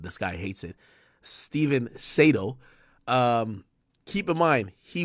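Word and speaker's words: Sadow: strategic hire so step sedo well I call him SED but it's sedo okay by the way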